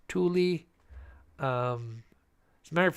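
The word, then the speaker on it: Tooele: it okay but yeah t o o e l e you should see how people try to pronounce this Tuli um as a matter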